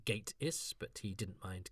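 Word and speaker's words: Gatiss: I had a brief but cheerful chat with Mark Gatis during which a I learned how to pronounce his surname. It's Gateis, but he didn't mind Gatis as he said it reminded him of Gati.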